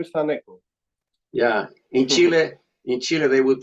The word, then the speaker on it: Thaneco: The th it's pronounced thu. Yep. So my name is Thaneco. Thaneco.